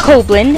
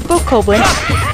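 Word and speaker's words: Bokoblin: it's a it's a coblin and i realized i pronounced the name wrong couple episodes ago but it's a book copeland and they'll actually uh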